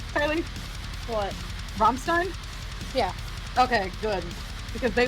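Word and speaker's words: Rammstein: second while bring the map up am I pronouncing that right Kye what romstein yeah okay good because they literally lit a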